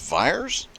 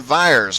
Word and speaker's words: Vyers: Oh, is it pronounced Fires? I am so sorry. I did not realize that. Brandon Vyers.